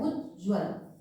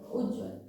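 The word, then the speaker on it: उज्ज्वल: नहीं है ठीक है तो सही उच्चारण क्या होगा सही उच्चारण यहा पर कहता है उज्जवल ठीक है दो ज जो होंगे बीच के दोनों ही आधे होंगे ये सही उच्चारण होगा उज्जवल और जब आप इसका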